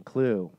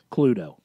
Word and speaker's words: Cluedo: He said, if you are a character in Cluedo for those overseas. Cluedo. Cluedo. You don't pronounce the E. It's a silent E.